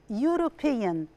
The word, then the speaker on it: European: is not pronounced and the letter u is pronounced u not o question number two the